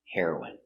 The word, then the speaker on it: heroine: Remember heroin is the pronunciation for the drug and heroin is a female hero. Pronunciation: heroine.